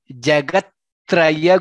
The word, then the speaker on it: जगत्त्रय: He Jagatraya Guru. There are 2 tas there and 1 rakara there.